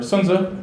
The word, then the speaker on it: Sun Tzu: So Sun Tzu, or Sun Tzu, is actually how it's pronounced.